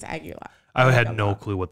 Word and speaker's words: Agalloch: Crips, Primitive Man, Midnight, and then headlining was Agalloch. Yeah, that's how you pronounce it. Sure. Sorry, I heard somebody say it. Oh, really? Like, yeah, I think it's Agalloch.